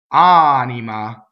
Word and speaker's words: anima: Anima. Again, same thing, right? Mia. So notice in anima we have all single N's and M's, and then mia, the accent is on the E.